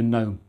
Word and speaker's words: GNOME: running Manjaro with a GNOME desktop. And yes, it's pronounced GNOME when you're referring to a desktop environment rather than the creatures some people keep in their gardens.